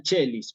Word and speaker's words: caeli: la palabra Regina Chely se escribe Regina caelis sí como está escrito acá y se dice Regina chelis Por qué Porque la c se une al diptongo ae y me queda la